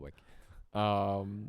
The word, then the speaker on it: WEC: What do you say, WEC or do you say WEC? I say I've always just been told it's whack.